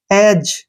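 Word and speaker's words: edge: ई डी जी ई इसको पढ़ेंगे एज ठीक है ना क्या पढ़ेंगे जी से पहले डी आ गया छोड़ दो डी को एज एज एज का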